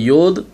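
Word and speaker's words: יוד: பாருங்கள், மாடர்ன் ஹீப்ரூவில் யோத், ஹே, வாவ், ஹேன்னு சொல்லுவாங்க. ஆனால் ஏன்ஷியன் ஹீப்ரூவில் நீங்கள் பார்த்தீங்கன்னா யாத், ஹே, வாவ், ஹே அப்படின்னு சொல்லுவாங்க.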